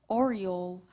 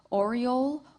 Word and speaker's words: aureole: Contestant, your word is aureole. This word has two correct pronunciations as well as it is a homophone. Aureole, aureole.